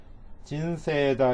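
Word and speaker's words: 人生: 유미같다를 이렇게 붙여 두었는데 진세다 이렇게 읽으시면 돼요. 이게 이제 세이 이렇게 되어 있지만 이가 에단에 붙어 있죠. 그러니까 얘를 길게 세 이렇게 읽는다 그랬죠.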